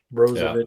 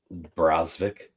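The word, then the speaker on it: Brzovic: Brozovic, I think is how you pronounce his name. Yep. I'm also on Charleston, and his name is Brozvik.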